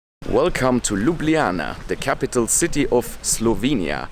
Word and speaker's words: Ljubljana: talk about the name this place is called Ljubljana say it with me Ljubljana that is how you pronounce it and the name actually comes from